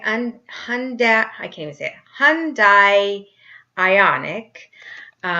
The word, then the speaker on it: Ioniq: pundit I canada hyundai ioniq spelled with io and IQ making you want to say hyundai ioniq but that's not right imploded on my drive